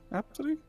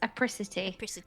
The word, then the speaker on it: Apricity: Is that how you pronounce it, Haley? Apsity? I think it's apricity, Apricity.